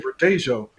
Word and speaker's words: Verdejo: yeah, I guess Mr. Verdejo is Verdejo, and I know that in Spanish the J is silent. So I'm saying Verdejo.